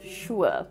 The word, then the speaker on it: sure: Here the letter S is pronounced as shh, similar to how you would tell a child to be quiet. So this is an unvoiced sound, which means no vibration in the throat.